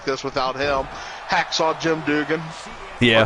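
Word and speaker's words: Duggan: without him Hacksaw Jim Dugan yeah dougen however you want to say his name I mean people have said it both ways over time so I believe it's Dugen but I've heard it both ways yeah but number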